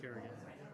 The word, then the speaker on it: Carignan: So it's Carignan. But it's pronounced Kerrigan. Oh, it is? Yeah, it's super Irish.